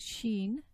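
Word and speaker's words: شين: So you pronounce Sheen by raising the tongue towards the hard palate, and that produces the Sheen.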